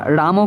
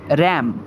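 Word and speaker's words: ram: এটার উচ্চারণ কিন্তু তোমরা রামও করতে পারো। কিন্তু এক্সাক্ট যেটা উচ্চারণ সেটা হচ্ছে র্যাম।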